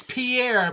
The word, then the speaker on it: Pierre: the dakotas it's if it reads pierre but they pronounce it pier oh where a lot